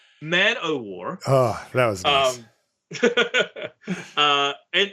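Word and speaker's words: Man-o'-War: man of war uh war not of war yeah don't mispronounce mana war on this podcast like that's man-o-war oh that was um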